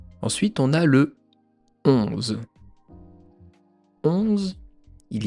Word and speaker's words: onze: Le O et le N en français, très souvent ça se prononce on on Ensuite, on a un Z qui se prononce Z the et à la fin un E qu'on ne prononce pas.